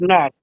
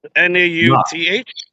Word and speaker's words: Nauth: How do you say it? Nauth. N-A-U-T-H. Nauth. Okay.